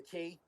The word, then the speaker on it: quay: I mean, the key. The quay, it's spelled, but he's pronounced.